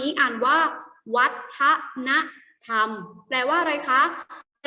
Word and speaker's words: วัฒนธรรม: คือ วัตนธรรม นะ คะ อัน นี้ อ่าน ว่า วัฒนธรรม แปล ว่า อะไร คะ แต่ ว่า 4 ที่